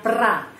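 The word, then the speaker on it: про: di sini Pro ya Pro Tapi bacanya pra Kenapa karena penekanan di sini Oh tidak mendapat penekanan PR Jadi saya sudah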